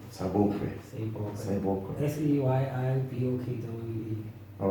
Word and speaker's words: Seyibokwe: Seyibokwe. Seyibokwe.